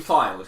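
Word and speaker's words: Fylde: So just to be clear, it's AFC Filed. Filed. Filed.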